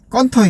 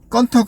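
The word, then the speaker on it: Cần Thơ: 건터 대해서 알아주셔야 될게 발음이 건터 있니다 영어 철자로 읽어보면 이게 토라고 읽을 수가 있는데 뭐 이렇게 외 웹사이트에서 그것 때문에 발음인 오류를 좀 많이 하고 있어요 운행하셔도 그렇고 베트남 발음으로 건터 맞습니다 그리고 터에 유명한 것은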